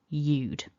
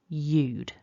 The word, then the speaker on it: you'd: So we lose our h and our a, and we're left with eude. And what you can see there is we've gone down to 1 syllable, eude, eude.